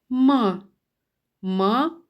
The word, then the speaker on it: мама: вимовлявся Голосніше Мама діти як правильно вимовляти мама чи мама вірно Мама так коли наголос на перший склад мама у кожному слові